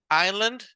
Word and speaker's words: island: No estoy diciendo Island, ¿verdad? Sino estoy diciendo island. Island. La I latina suena como A de como ice cream, ¿verdad? Island. So, esto está bien, no es raro, es solo que la S de esta palabra no se pronuncia. Es island, that's the pronunciation for this word.